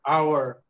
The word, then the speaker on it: hour: you pronounce the h you never pronounce the h do you no yeah so our sound is what it is our it is the hour so one hour two